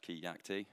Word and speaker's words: Keacte: introduce myself um so my name's kayak t um pronounced key yak t uh i've been called